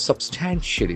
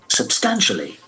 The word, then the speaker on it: substantially: Substantially. Substantially. The accent falls on the second syllable.